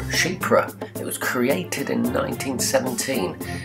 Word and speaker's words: Chypre: Yes, it's pronounced Chypre. Now this group was named after a perfume created by Françoise Coty, basically just called Chypre.